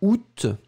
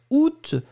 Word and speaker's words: août: Et puis la dernière chose, c'est août. Hein, août, alors faites attention, août, on va le prononcer en général avec le T final.